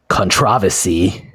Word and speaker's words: controversy: So yeah, and I mean, we already kind of alluded to the still standing conTRAVersy, which is the British pronunciation of controversy.